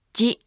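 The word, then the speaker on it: ヂ: Remember, it's not pronounced di. Actually, chi with a dakten is pronounced as ji, chi, ji, chi, ji.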